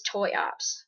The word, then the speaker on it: Triops: sometimes it doesn't now the brand I use is toy Ops it's exactly how it's spelled toy Ops uh you